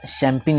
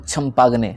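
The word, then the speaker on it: champagne: ठीक है, ये इसको हम पढ़ते हैं, जैसे हम इसको स्पेलिंग में लिखते हैं चंपाग्ने, है ना, यहाँ पे क्या लिखा हुआ है चंपाग्ने, और वाइन, लेकिन चंपाग्ने वो है नहीं, वो क्या है शैम्पेन है, ठीक है।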